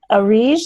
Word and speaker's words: Arij: Arij, is that how you say your name? You are muted still. There's a unmute button. I just hit unmute. Did it work? Okay. Yeah, you pronounced it correctly.